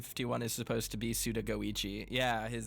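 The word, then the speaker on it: Suda51: Raph says, I never noticed Suda 51 is supposed to be Suda Goichi. Yeah, the 51 in his name comes from the fact that it's pronounced literally Goichi.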